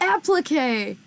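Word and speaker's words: appliqué: How do I pronounce this, friend? Apply. Okay. Applique. Oh, applique.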